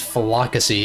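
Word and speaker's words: Floccesy: to pronounce that exactly I'm guessing it's fasy as in like Flock like a flock of sheep sort of thing verbank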